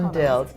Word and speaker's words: rondelle: why are they call rondel well it it comes from the French uh from the French word of course rondel if we really want to pronounce it like the French do uh but rondelle means